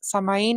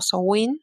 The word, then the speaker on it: Samhain: Siempre vamos a iniciar hablando de los sabbats, iniciando desde lo que es Samaín o Sowin, ¿sí? Como lo pronuncian, es indistinto.